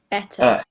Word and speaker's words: better: Yeah, so this sound in the end, that's what you use instead of ER. Instead of saying better, you pronounce, where is that? You pronounce schwa sound instead of these two. Oh, that was so bad.